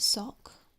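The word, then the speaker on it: Sawk: Sork. Because Americans pronounce it Sock, which makes sense, like sock and throw.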